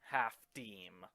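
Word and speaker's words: half disme: I wouldn't have guessed that the coin is pronounced half-deem.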